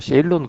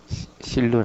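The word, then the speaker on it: Ceylon: 스리랑카는 옛날에 그 땀바빠니 그렇게 얘기를 하기도 뭐 요즘도 세일론 그렇게 얘기하죠. 세일론이란 단어를 이렇게 쓰기도 합니다. 예, 실론 아니고 세일론입니다. 그 실론은 영국식 발음입니다.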